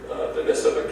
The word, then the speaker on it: Denisova: And then there's this interesting discovery of the Homo denisova, or Denisova. They accentuate the second syllable.